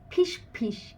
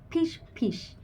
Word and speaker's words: ফিসফিস: কিন্তু আবার যদি বলি ফিসফিস বাংলার শব্দ ফিসফিস তখন কিন্তু দুটো ঠোঁট লাগিয়ে ফুসফুস দুটো ঠোঁট লাগিয়ে